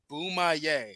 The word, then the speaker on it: Boomaye: show I went like okay Tim it's boomaye he's like boomaye I was like yes he's never said the